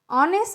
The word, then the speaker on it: honest: example and over and honest man and here look at the spelling first and our H oh you are but here H is silent so that time you